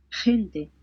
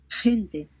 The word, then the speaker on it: gente: before E or I, it sounds like the H in the word hot, except that it's raspier. So let's listen into it. Let's take a listen. gente, gente, Gente, gente, it means people.